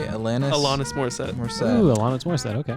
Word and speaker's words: Alanis Morissette: Alanis Morissette.